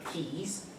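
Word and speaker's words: Xi: The old sort of squiggly cursive looking E is a Greek letter of XSI, which can evidently be pronounced like 5 or 6 different ways, but we've always used key in my studies just simply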